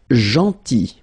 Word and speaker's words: gentil: Then gentil. So remember this final L is not pronounced.